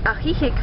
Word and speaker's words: Ajijic: Ajijic, for example, which is spelled A-J-I-J-I-C, is very well known for being a retirement location for a lot of Canadians and Americans.